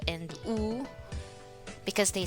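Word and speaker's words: ㅜ: Next, this one is U. U, it should have a long sound. It is pronounced like the U in the English word soon and moon.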